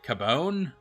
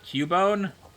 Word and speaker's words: Cubone: pokemon it's cabon and they pronounced it cabone instead of cubone and that was really